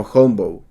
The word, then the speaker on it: Holmboe: Humble. Es que no sé cómo se pronuncia. Ah, Es como Holmboe.